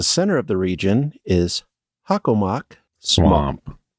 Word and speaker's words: Hockomock: At the center of the region is Hockomock Swamp. Hockomock, yeah.